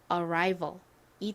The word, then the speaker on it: arrival: 이렇게 표기를 보통 하는데요 R 몸과 만난 경우에 실제 발음은 라가 아니라 라라라라 이렇게 발음이납니다 R 자 그다음에 v a이 나왔는데요 V 진동이 들어간 비읍 소리가 하죠 소리가 나고요 에이 오면 보통 all 소리가납니다 그래서 연결해 보면 Arrival이 되죠 자 천천히 따라해 볼게요 Arrival